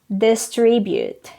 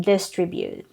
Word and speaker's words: distribute: as contribution contribute contribution next word distribute it's not distribute again the stress is on the second syllable but the noun form